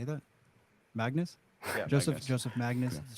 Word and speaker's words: Magnus: Magnus.